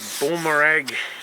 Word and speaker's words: Baumr-Ag: Okay, here I have one of these Baumr-Ag, that's how you say it, pole chainsaws, long reach pole chainsaw, SMX120.